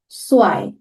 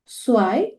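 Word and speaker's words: zwei: জিরোকে নুল, ওয়ান আইন্স, টু সোয়াই, three দ্রাই, four ফিয়া, five ফুনফ, সিক্স জেক্স, seven জিভেন, eight আট, nine নয়ন, টেন সেন, 11 এলফ, 12 সোলফ।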